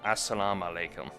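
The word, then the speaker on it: as-salamu alaykum: peace be upon you oh no assalam alaykum that's how you pronounce it I just remember that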